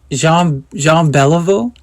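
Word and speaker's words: Jean Béliveau: And I said, Jean Beliveau is coming here?"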